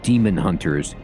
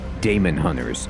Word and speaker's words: Daemonhunters: So, the general consensus that I saw online was that this is pronounced demon hunters even though there is an A.